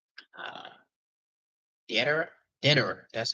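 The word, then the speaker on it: Deidara: Deodara.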